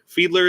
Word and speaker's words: Fiedler: Is it Fiedler? Fiedler is the correct way to pronounce it.